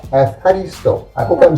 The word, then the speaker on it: Ευχαριστώ: Ευχαριστώ. Efcharisto? Ευχαριστώ. Efcharisto.